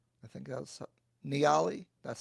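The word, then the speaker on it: Nyali: Maybe I needed I didn't like the place I stayed at, and maybe I only stayed in Mombasa and Nairi. I think that's Niali.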